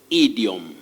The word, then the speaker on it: idiom: or pure vowel sound e e you say idiom idiom not ideal many people would say idiom especially from you know the pronunciation of idol but this one you say